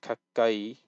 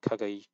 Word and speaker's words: 가까이: So obviously you have kakai, not kagai, kakai.